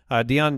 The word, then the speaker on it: Deon: Deion Jackson got opportunities too. Wait, did I say that right? No. I got the name wrong. We'll figure that out. That sounds right. That's right. Deion Jackson?